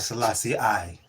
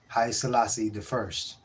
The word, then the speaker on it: Haile Selassie I: I come to understand that I was saying it wrong. It's not Selassie I. It's Haile Selassie, Haile Selassie the first. Not Haile Selassie I.